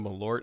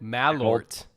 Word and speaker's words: Malört: hell of a combination now I would drink malort malort okay there we go uh it's you had the you had the that makes it worse yeah you had the emphasis on the wrong cabble oh man all right